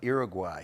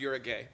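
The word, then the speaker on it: Uruguay: brown sugar what's first country that was uh uguay it's actually pronounced Ur a gay you're Ur a gay you're aay I was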